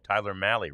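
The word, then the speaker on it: Mahle: Um I've thought, you know, that it looked like he was going to be Oh, Tyler Mali rhymes with rally.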